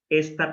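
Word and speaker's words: את: no somos conscientes de esta partícula entonces como la pronunciamos movernos dijo jaime se pronuncia es y como ser fácil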